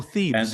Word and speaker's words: Thebes: Oh, Thebes.